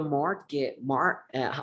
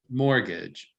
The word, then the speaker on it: mortgage: I always listen to a mortgage. What's the correct pronunciation of that? Mortgage. Mortgage.